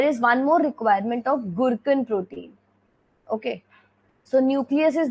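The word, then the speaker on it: gurken: From the nucleus, the Gurkhan mRNA is formed and the Gurkhan protein is formed. Now this, you can pronounce it as Gurkhan or Gurkhan, whatever you feel like. I pronounce it like Gurkhan.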